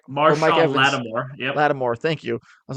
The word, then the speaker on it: Lattimore: right I think either my shot Marshawn Marshawn Larimer didn't pronounce his name right Mark Lattimore Latimore thank you I was like I knew I